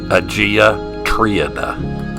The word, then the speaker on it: Agia Triada: The name of this site is actually pronounced Agia Triada, which is right down the road from Phaistos, which is the ruins we were just at.